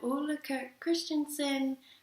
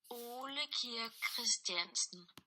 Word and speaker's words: Ole Christiansen: It was founded by Ole Christiansen, and a better pronunciation of that is Ole Christiansen.